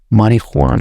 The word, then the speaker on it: marijuana: Okay, why the fuck you putting J there if you don't want to pronounce that?